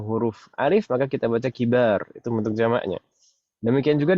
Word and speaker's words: كبار: Tapi kalau setelah mbak itu huruf alif, maka kita baca kibar.